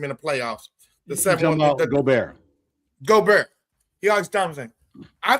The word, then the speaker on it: Gobert: Gobert. Gobert. He always dominates. I think the difference in these games is Gobert, whatever his name is actually not Goldberg. You think about the wrestler, not Goldberg. Gobert.